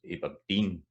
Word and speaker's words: Aberdeen: And then sometimes they're at the end, and here's a 3-syllable one, Aberdeen. So that's Aberdeen, da-da-da.